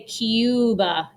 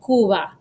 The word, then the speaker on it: Cuba: comes after the letter q and then it is silent so for example cuba in english we say cuba we add like a y sound in there cuba in spanish you say cuba or uruguay sounds like it has a y